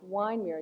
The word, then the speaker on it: Wyndmere: And uh but it's pronounced in a long vowel wine.